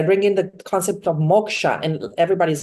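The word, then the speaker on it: moksha: my trainings I bring in the concept of Moka and everybody's like what sorry I said Moka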